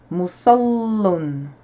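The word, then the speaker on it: مُصَلٍّ: On a 3 syllabes, dont une sur laquelle on insiste sur la lettre.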